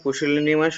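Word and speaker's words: pusillanimous: দেওয়া রয়েছে সেলে মোস্টঅপ্রোপ্রিয়েট অন্টম গিভেন ওয়ার্ড পুশিনিমাস উচ্চারণটা পুশিনিমাস হবে খুব ভালোভাবে উচ্চারণটা করবে এর অর্থ হচ্ছে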